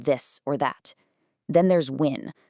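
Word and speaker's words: ƿ: Then there's win, a rune that looked kind of like a P but made a W sound.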